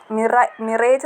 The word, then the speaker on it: mirage: Mirage എന്ന് നമുക്ക് വായിക്കാൻ തോന്നും.